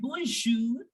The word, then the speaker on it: bonjour: Okay, so that's why in the word bonjour, we are making the sound of R. Why? Because careful has R in it.